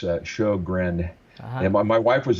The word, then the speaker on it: Sjogren: And it's not that difficult to pronounce, but it looks completely different. It's Sjogren.